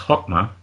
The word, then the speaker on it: Chokmah: Number 2, it's pronounced Chokmah, means wisdom.